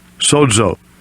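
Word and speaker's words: σῴζω: Transliteration, pronunciation is right here. Strong's G 4982. Sozo.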